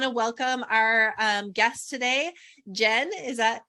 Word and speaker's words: Gen: so I want to welcome our guest today Jen is that correct did I pronounce it yeah okay I should have asked